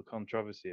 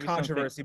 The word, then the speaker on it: controversy: there to be little controversy about this. I just, you know. It's pronounced controversy, but I agree with you. I did say it wrong there. It's just the British way of saying it.